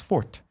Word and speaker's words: forte: no it's Forte and I'm like it's actually pronounced Fort you can look it up if you look